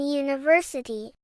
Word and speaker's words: university: You might think U is a vowel, so it must be in university. But listen closely to how we say it. University. That first sound is a Y sound, which is a consonant.